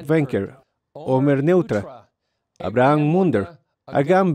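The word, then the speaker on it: Wenkert: Omer Wenker, pronunciado Wenker, Omer Neutra, Abraham Munder, Agam Berker y Alexander Lobanov.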